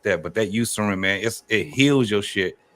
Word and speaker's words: Eucerin: It's pronounced Eucerin, but it's spelled with an E. It's called Eucerin.